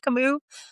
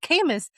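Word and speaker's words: Camus: say like last year found out that it is pronounced kamu. I have been going around being like I love kis like an idiot cuz I'd never said it out loud.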